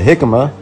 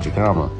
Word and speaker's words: jicama: what it was well it's actually called a jicama spelt with a j first time i actually bought one and made a video i called it a jacob but cut it up